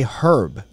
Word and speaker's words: herb: sound like commoners and started pronouncing the h even though it's a french loan word and then the commoners